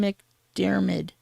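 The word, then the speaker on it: McDiarmid: returning as Emperor CH Palpatine how would you pronounce it Ian mcdermid there you go dmid returning as the Emperor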